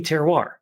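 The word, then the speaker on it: terroir: And even though it still took me maybe eight years to say it correctly, that would be teroir, you know, that that still that that's kind of the definition of it.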